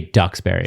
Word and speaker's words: Duxbury: it's it's called ducks it's spelled d-u-x-b-u-r-y you say ducks berry so you say yeah